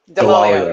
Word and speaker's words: Delolio: I'm not sure I'm going to pronounce her last name the right way. Delolio? Delolio. Delolio, yes, yeah.